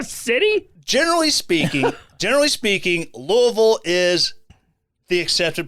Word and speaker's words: Louisville: are in the city generally speaking generally speaking louisville is the accepted pronunciation okay but there's like five other pronunciations that they consider legit pronunciations you could say louisville you could say uh louisville louisville just two